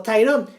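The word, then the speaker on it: Tirone: de Educación y docente su nombre se pronuncia en castellano de la misma forma en inglés como tyron pero tyron este es con i Latina y tyron en inglés es con y bueno eso er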